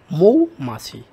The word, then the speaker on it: মৌমাছি: কয় রকমের হয় দুই রকমের মৌমাছি এর সঠিক উচ্চারণ হলো মৌমাছি লাস্টেরটা যে অপশন দেখতে পাচ্ছি এখানে উত্তরটা হবে